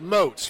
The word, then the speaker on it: Moats: Well, you're here with Moats, rhymes with boats.